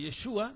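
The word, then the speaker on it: ישוע: noche de Jesús o de yeshua mejor pronunciado con un religioso con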